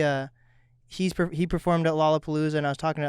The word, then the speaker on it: Lollapalooza: i pronounced it wrong is it lollapalooza or lolopalooza you got it first time yeah how did you